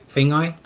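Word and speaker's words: Feagai: Is it Fagai? Fengai.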